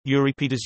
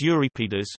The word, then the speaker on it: Euripides: Euripides, Greek, Euripides, Euripides, pronounced U, Re, P, D, S, C, 480 C, 406 BC, was a tragedian of classical Athens.